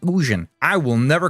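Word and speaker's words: Ugin: Uh going against an Ugan Canal, it's actually pronounced Ujan. I will never call him Ujun or whatever. He's Ugan to me.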